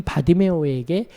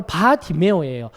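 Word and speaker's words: 바디매오: 근데 그게 바로 바디메오예요. 바디메오가 아니라 바디메오입니다. 바디메오. 바가 이제 아람어로 아들이라는 뜻이에요. 디메오의 아들, 바디메오라고 읽어야 되는 거예요.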